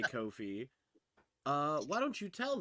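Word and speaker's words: Ko-fi: do you pronounce it it rhymes with no fee so Kofi is how it is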